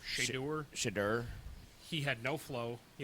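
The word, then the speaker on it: Shedeur: He, Shadur, how do you pronounce his name? Shadur.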